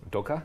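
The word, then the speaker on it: dukkah: And then on top, I love to sprinkle something called dukkha. Say it with me. Dukkha?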